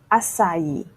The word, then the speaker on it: açaí: This word is often mispronounced as acai or açaí. It's actually açaí.